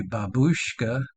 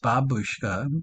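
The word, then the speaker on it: бабушка: I would think it would be babushka, but it's babushka. There would be a double B for babushka, stress the second syllable.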